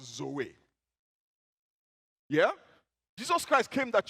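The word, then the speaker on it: ζωή: describe that life is a greek word pronounced zoe yeah jesus christ came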